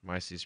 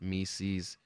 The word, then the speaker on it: Mises: Mises pronounced Mises, not Mises.